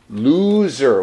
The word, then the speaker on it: lose: Now, we said loser. What's the opposite? Winner. Winner, winner. And we pronounce this lose. And this is loose, loose. My collar is loose and open, loose.